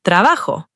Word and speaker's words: trabajo: The word trabajo. Where's the stress? Pause. Second to last syllable.